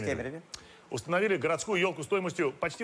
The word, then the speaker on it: Кемерове: В Кемерове, правильно говорить, Кемерове.